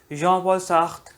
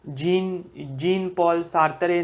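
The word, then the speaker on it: Jean-Paul Sartre: और ये lecture important इसलिए है क्योंकि नाम तो देख ही लिया होगा, जॉन पॉल सार्त्र के बारे में हम बात करने वाले हैं। फ्रेंच प्रोनाउंसिएशन जीन पॉल सार्त्रे नहीं होता है, फ्रेंच प्रोनाउंसिएशन है जॉन पॉल सार्त्र।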